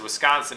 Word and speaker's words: Wisconsin: be stressed unstressed stressed whereas Wisconsin is unstressed stressed unstressed okay so instead of